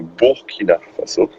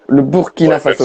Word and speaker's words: Burkina Faso: Surtout que c'était le Alors, déjà, on dit le Burkina Faso. Le Burkina Faso, même si ok. ça s'écrit U, Je m'attendrai. c'est parce que c'est pas un mot français.